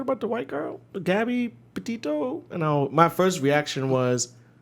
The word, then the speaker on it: Petito: Petito.